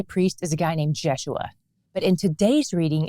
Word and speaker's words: Jeshua: their first high priest is a guy named jeshua but in today's reading it's spelled like Joshua we'll keep calling him jeshua since that's how we met him and since